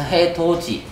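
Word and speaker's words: 해돋이: 그리고 방금 말했지만 해도지에서 지읒이 어디로? 여기로 넘어갈 수 있거든요. 그래서 해도지가 되는 거예요. 발음할 때. 그래서 해도지.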